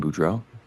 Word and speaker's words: Boudreaux: Uh, my name is Budro. Budro is B O U D R E A U X.